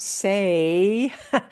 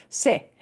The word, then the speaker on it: se: And se is, and notice not say, se, se. We want to shorten that pronunciation, se.